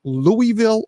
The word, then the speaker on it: Louisville: The capital of Kentucky is it pronounced Louisville or Louisville? Louisville. That's the way I said it. I say Louisville.